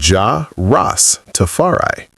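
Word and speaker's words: Jah Rastafari: He is the man Rastafarians call Ja Rastafarai pronounced as Ja Ross Tafari.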